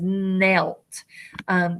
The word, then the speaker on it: knelt: The K is silent, so it says knelt.